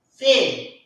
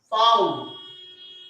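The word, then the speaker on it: Vau: I have told you to pronounce this as fail. But here comes my mistake. This letter is actually foul. Foul. foul. Okay, so this letter is actually foul. This is not fa.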